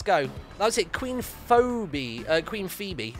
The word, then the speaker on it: Phoebe: Queen Phoebe. Was that pronounced Phoebe or Phoebe? I'm pretty sure it's Phoebe. I think Phoebe's one of those ones where it's not spelt the way you think it would be.